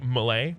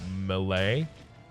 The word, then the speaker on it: melee: And that is that I bury the first syllable and say melee rather than melee. Like melee, I guess. That's just an Australian thing.